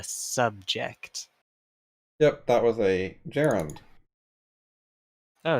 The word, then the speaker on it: gerund: So I kind of just pronounced it like the M1 Garand rifle, I guess.